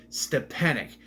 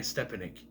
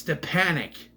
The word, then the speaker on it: Stepanek: That's Stepanek. It's so annoying. It's so annoying when you know how something is pronounced and they say it wrong. Like, I've seen videos people call him Brian Stepanek. It's Stepanek. He even says it in interviews. I'm Brian Stepanek.